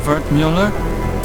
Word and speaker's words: Wertmüller: Cut-up version of Wertmüller. It's German, from my father. He said to always insist on the umlauts. Otherwise people butcher the pronunciation.